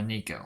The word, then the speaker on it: neko: 173, gender female, the Neko girl, or Nico, how it's pronounced.